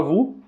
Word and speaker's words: vous: tá ali a palavra vu tem a combinação das Letras o e u que tem som de u Ok e tem um s no final que não é lido que é mudo portanto a pronúncia correta